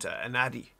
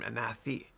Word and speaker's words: Anadi: I have one student from India named Anadi, and I pronounced his name Anathi a couple times, and I asked him the right pronunciation.